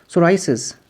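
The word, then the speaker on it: psoriasis: टेढ़ी हो जाती है सोराइस दार चबल को कहते हैं प य पर साइलेंट है रिकेट्स बच्चों में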